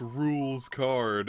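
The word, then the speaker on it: Rouxls Kaard: that were just like, there's no way it's pronounced rules card, and then, like, they just, like, keep putting, like, new dialogue saying, putting the term rules card next to rules card?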